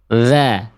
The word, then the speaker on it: ذ: Za, za, za, za, za, za, zi, zu, al, al. Jadi fokus huruf dzal itu bukan harus menjulurkan ujung lidah keluar mulut. Fokus utamanya bukan harus melet.